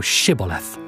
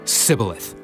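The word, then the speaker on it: Shibboleth: If he said, Nay, then said they unto him, Say now Shibth. and he said, "Caleith," for he could not frame to pronounce it right.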